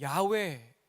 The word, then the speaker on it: 야훼: 또 하나가 여호와 원문의 발음으로는 야훼 이렇게 표현을 해요.